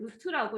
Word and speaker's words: 루트: 자, 그래서 얘를 루트라고 읽고 읽을 때는 보통 루트라고 읽고 루트랑 같은 표현이 제곱근인 거야. 또 다른 표현 하나 더 있죠. 근호라고도 읽어요. 근호.